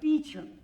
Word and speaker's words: Beauchamp: It's pronounced Beecham.